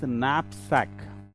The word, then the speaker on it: knapsack: So the k is silent. So So this is the way how we need to pronounce that is knapsack.